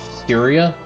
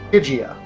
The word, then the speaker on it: Stygia: You call him Lazar of Styria? Stygia.